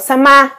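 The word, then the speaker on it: 様: chữ dạng dạng này có cách đọc là y hoặc sama sama trong Kamisama nghĩa là chúa thần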